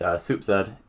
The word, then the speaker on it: SoupZed: So to start off, Soup plus Zed. It's SoupZed. That's how you pronounce my name.